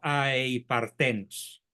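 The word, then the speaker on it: ἀειπάρθενος: partenos, o aei partenos, aunque es más eufónico aei partenos, con acento en la e.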